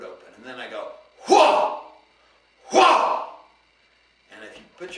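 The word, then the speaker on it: hwa: And the sound that they use for that is H-W-A. Hua! Hua! Hua! Hua! Now, if you say it wrong with a tight throat, it'll give you a sore throat after a while. So you have to keep your throat open.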